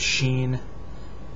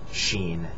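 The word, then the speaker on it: شين: three dots on top Sheen it makes the Sha sound we also have that in English just not as one letter this is sod s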